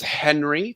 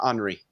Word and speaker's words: Henri: And then everybody says Henry for his first name. I believe actually it would be pronounced Henri.